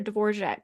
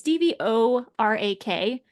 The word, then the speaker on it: Dvorak: It's Dvorak, and it does not look like it should be Dvorak, but that's always how I've heard that word pronounced.